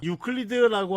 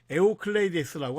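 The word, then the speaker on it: Εὐκλείδης: 유클리드라고 하는 건 이제 영어식 발음이고 그리스 발음으로는 에오클레이데스라고 합니다.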